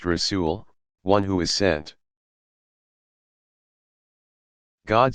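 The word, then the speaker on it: رسول: Rasul, pronounced Rasul, one who is sent.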